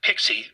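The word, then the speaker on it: PKCE: OAuth named proof key for code exchange pke pronounced pixie for short this was originally designed for native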